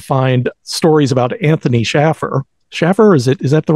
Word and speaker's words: Shaffer: theatrical murder and find stories about Anthony Schaffer Schaffer is it is that the right pronunciation exactly yes yes okay good because I've